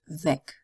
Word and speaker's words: weg: This time it's pronounced weg. So it's a short E and almost like a K sound, weg.